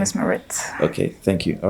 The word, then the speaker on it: Maritt: name is Maritt. Okay, thank you. All right, I'll try and pronounce it the way you do.